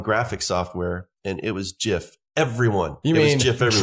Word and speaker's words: GIF: was working on graphic software and it was jiff everyone you mean if there's graphics software so period hearing these other pronunciations is its it just sounds like a